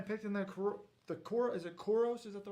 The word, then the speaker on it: Koros: And then the one person I picked in the is it Koros?